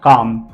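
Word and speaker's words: calm: Talk, walk and काम, जिसको पढ़ना नहीं आता वो टॉलक, वॉलक एंड कालम पढ़ता है, ऐसे नहीं पढ़ना है।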